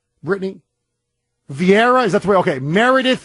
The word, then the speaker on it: Vieira: mic beside him was Meredith how do you pronounce her last name Brittany Vieira is that's why okay Meredith Vieira okay just she just goes by Meredith Meredith